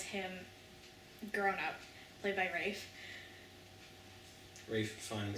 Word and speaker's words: Ralph: They're not gonna know who you mean when you say Rafe. He's the only person in the entire world, I'm pretty sure, that's called Rafe, even though it's spelled Ralph.